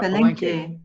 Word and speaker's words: Palenque: Elise is asking me, do you go to, and I'm probably gonna pronounce this incorrectly, is it Palenque? Yeah, Palenque.